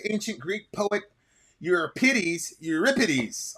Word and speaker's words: Euripides: Greek poet your pities euripides I think is the correct way to say it and more specifically his